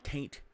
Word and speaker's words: Taint: And you revoted Taint Reeves. Taint. I didn't mispronounce it. T-A-I-N-T. Look up the slang meaning of taint.